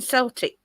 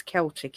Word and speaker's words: Celtic: groups the origins in Celtic Celtic C Celtic depends where you are as how you pronounce that I think you Americans it's Celtic isn't it the Fay originates from